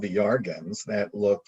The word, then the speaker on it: Iarga: So Yarga is IARGA. Let me just double check that. But it's pronounced Yarga. Yeah, Yarga, UFO contact from planet Yarga.